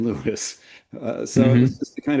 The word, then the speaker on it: Louis: And to this day, everyone in England, as you say, calls him Louisie. Uh, and they laugh at Americans for calling him Lewis, but everybody he knew called him Lewis.